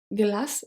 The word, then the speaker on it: glace: Une glace, so une glace, the final E is not pronounced, is silent, but it helps the C to become a soft C, to be pronounced as a S. Glace.